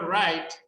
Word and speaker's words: write: Recordad que en el verbo write no se pronuncia la W.